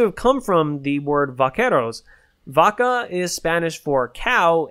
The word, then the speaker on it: vaquero: really vaquero you know it's pronounced as vaquero god eventually got corrupted and anglicized as buckaroo so like vaquero vaccaro vacuum so you know 200